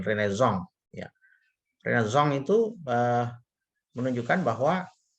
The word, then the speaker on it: Renaissance: Ini sengaja digaungkan pada masa Renaissance atau Renaissance ya, bacanya tulisannya Renaissance tapi dibaca secara alfabet Prancis itu dengan Renaissance.